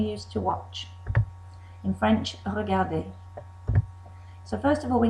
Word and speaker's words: regardé: And you'll notice that the pronunciation of regarder, to watch, is exactly the same as regarder, watched. That's because er plus e with an acute accent make an a sound.